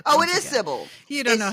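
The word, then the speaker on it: Sybell: civil why do I want to call her Cil that's not right I think it is I think that's well that's how he pronounces it in the audio B oh it is Syble you don't know how much to like it's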